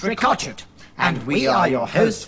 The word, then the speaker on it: Ricochet: and Nigel rakaat chipped that spelt ricochet but pronounced Rico cheat and we are your